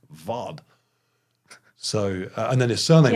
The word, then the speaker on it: Ward: There's a German guy, German rower, and his name is spelled W-A-R-D, Ward. But because it's German, I then went and watched a few videos where people were talking about him to make sure I was pronouncing it right. And of course, it's pronounced Vod.